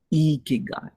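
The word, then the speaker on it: 生き甲斐: be pronounced he said you're not pronouncing it right if you're not smiling when you're pronouncing it hiki guy iki guy it's not a key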